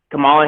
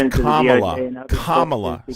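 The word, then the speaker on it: Kamala: he's getting Camala Harris is getting uh has information her name is Kamla say her name correctly it's Kamla no don't say whatever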